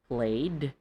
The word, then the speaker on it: played: So you should say, They play, and then the ed, played games yesterday.